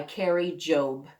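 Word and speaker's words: Kari Jobe: And it's by Carrie Jobe. And that's spelled Kari, and then Jobe, Jobe.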